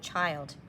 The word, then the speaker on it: child: Normally, this would have been a closed syllable, but it's not. So you're going to memorize this by heart. Maybe ILD says ild.